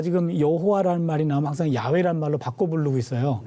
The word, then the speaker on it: 야훼: 제가 지금 여호와라는 말이 나오면 항상 야훼라는 말로 바꿔 부르고 있어요. 네. 그렇죠? 여러분 시청자분들도 좀 궁금해하실 분도 있을 것 같은데 여호와라는 말보다는 야훼라는 말이 원어에 더 가까운 발음이에요.